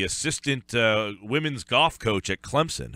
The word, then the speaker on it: Clemson: If you say it with a Z, a lot of broadcasters will do that.